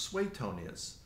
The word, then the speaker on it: Suetonius: you said Suetonius. I hear so many different ways of pronouncing that name. John Ramsay, you met him, right? He's a classicist and he told me it's pronounced Suetonius, but I've heard so many other people, and